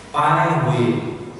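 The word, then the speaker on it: Baihui: Jadi kalau bahasa Cina itu T dibaca D, daicu, sandico, kemudian B dibaca P, Pai Hui. Tulisannya Pai Hui, bacanya Pai Hui.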